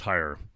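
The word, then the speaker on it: hir: In New York City now, you can be fined for not calling people Z-E or H-I-R, which I guess is pronounced higher, if that's the pronoun that they demand you use.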